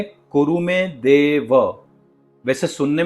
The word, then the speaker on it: देव: निर्विघ्नम कुरुमे देव ना ही के निर्विघ्नम कुरुमे देवा या कुरुमे देवो फिर से एक बार